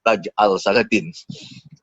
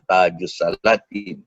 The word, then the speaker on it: Tajus Salatin: Tajus Salatin ini menarik juga kerana saya mendengar dalam beberapa seminar ada pakar filologi Melayu menyebut sebagai Taj al-Salatin. Padahal ejaannya memang begitu, tapi kita faham bahawa sebutannya betul Tajus Salatin.